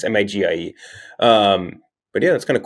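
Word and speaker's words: Magie: Monopoly was created by a woman in 1903, Lizzie Maggie, or maybe it's supposed to be pronounced McGee. I don't really know. It's Migie.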